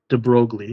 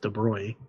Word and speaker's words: de Broglie: Uh this guy, Louis de Broglie, not de Broglie, it's pronounced de Broglie.